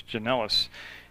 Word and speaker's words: Janellis: So Janellis up now. I think I pronounced his name wrong before, but it's Janellis.